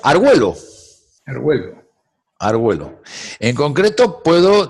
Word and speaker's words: Argüello: Me quedaba, al americano, el inglés, para él, en la doble L estamos en una pronunciación de L, y no tienen ellos eso de la diéresis con el argüe. sino que dice Arguello, y Sí, se queda.